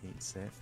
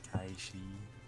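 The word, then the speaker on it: Cait Sith: thought this was just pronounced Kate Sith, but apparently it is Kai Shi.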